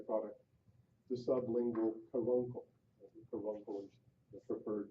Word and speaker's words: caruncle: The caruncle is the preferred pronunciation.